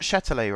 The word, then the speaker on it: Châtelet: Baptiste has corrected me on my French pronunciation again. So I got Châtelet right for the metro/RER station in Paris.